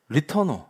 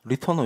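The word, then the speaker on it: LeTourneau: 그래서 미국 사람들은 리터노 리터노 이렇게 발음해요. 이분이 프랑스개라서 이름이 특이해요.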